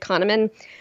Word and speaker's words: Kahneman: In fact, there's a book called Thinking Fast and Slow by, I believe his name is pronounced David Kahneman.